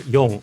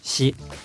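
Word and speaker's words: 四: it's probably number four the number four in japan is either young or she and she has the same pronunciation as death see it's four because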